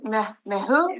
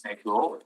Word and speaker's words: Mehul: How do you say your name? Mehu? It's Mehul, first Mehul.